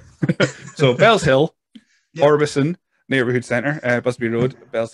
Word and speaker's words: Orbiston: Orbiston Neighbourhood Centre. Right. The silent T. We like our silent letters. Right. So Bells Hill, yep. Orbison Neighbourhood Centre, Busby Road, Bells Hill.